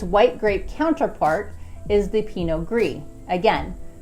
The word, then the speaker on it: Pinot Gris: Now, to go hand in hand with this, its white grape counterpart is the Pinot Gris. Again, the consonant is silent at the end of both words, so instead of saying the Pinot Gris, it is pronounced Pinot Noir.